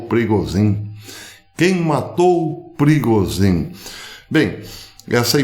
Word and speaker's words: Prigozhin: E a pergunta que está rodando o mundo hoje é: quem matou Pregazen? Parece que essa é a pronúncia correta para o finado líder do grupo Wagner, conhecido por aqui como Perigozinho ou Prigozhin.